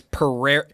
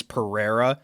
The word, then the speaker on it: Pereira: It's Pereira. So there's two ways you could say it. Is the most like I'd say like American way to say it is Pereira.